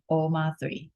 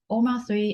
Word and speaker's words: OMA3: a organization called web3 oma3 um i would pronounce it omar 3.